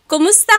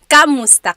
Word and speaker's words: kumusta: If you're following along, you will see that it is spelled K-U-M. Kumusta ka? But in common conversation, natural or native Tagalog speakers will naturally say kamusta ka with an A sound.